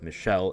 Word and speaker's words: Michelle: try to remember to pronounce the names as they should be which is in French which if it's the girl version of the name Michelle then that's just how it is Michelle in French but if it's pronounced